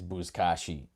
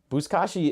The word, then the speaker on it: buzkashi: I mean, the name of it is buzkashi.